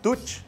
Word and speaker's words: tuch: ¿Tuch? Tuch. Tuch. ¿Ves? La pronunciación es importante, porque muchos le dicen tush. No es tush, es tuch. Tuch. Con tuch. CH.